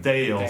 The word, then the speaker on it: Dale: or called it a Dale sweater. Dale of Norway is a sweater brand, and it's also a yarn brand. It's pronounced Dale in English, but Dale in Norwegian. But it's not so strange.